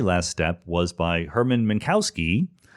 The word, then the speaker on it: Minkowski: step was by hermann minkowski probably should be minkowski but i'm going to pronounce it using an american pronunciation uh minkowski had been